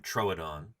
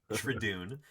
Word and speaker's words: Troodon: um so we've heard how you pronounce the name Troon uh you don't say trun um trudon trun um